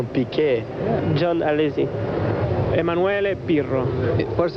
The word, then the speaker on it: Piquet: In Portuguese we pronounce Piquet.